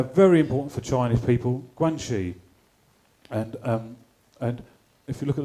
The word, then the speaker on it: Guanxi: Guanxi, as you can see, it's pronounced Guanxi.